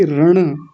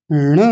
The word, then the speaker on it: ण: रहे थे कक्षा में, वो बोल रही थी रण, रणकार, अपनी तरफ से र लगा रही थी। क्षमा कीजिएगा, मैं आपका नाम लेके बोल रहा हूँ। बहुत सारे लोग मतलब ऐसा गलत उच्चारण करते हैं। कुछ लोग बोलते हैं अण, अ लगा करके बोल देते हैं, अण बोलते हैं जिसको, अण, अण थोड़ी है, ण है, ण।